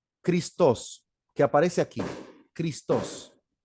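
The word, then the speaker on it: Χριστός: dos que aparece aquí christos se puede pronunciar cristos los cristianos usaron siempre la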